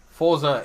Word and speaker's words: Forza: Forza, there's no T in Forza, so why would you get the...